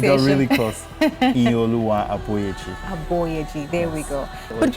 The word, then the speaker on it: Iyinoluwa Aboyeji: Help me again with the correct pronunciation. You got really close. Iyinoluwa Aboyeji.